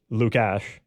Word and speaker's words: Lukáš: him quite a bit it's Luke Ash like Lucas like yeah so they're